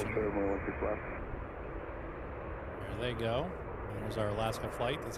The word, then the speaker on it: Geaux: It's pronounced jho go flying.